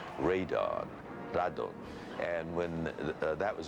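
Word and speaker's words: ラドン: in Japan was called Rado you know it's the Japanese pronunciation of radon Rado and when that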